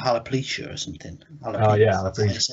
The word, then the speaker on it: alopecia: Maybe it's more like alopecia or something.